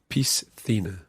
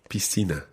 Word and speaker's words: piscina: you pronounce the s as part of the syllable piece and then the next c is a th so phena pistina pistina and in latin america you would hear piscina piscina so el banco esta en frente de